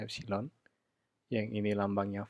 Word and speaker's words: epsilon: Sama-sama memiliki satuan volt, sehingga ya dapat dikatakan juga walaupun ini lambangnya E, ya, epsilon, bacanya epsilon, yang ini lambangnya V, kedua ini dapat dianggap adalah sama-sama beda potensial, ya.